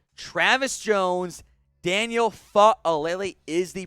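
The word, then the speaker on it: Faalele: Travis Jones, Daniel Fa'alele is the pronunciation.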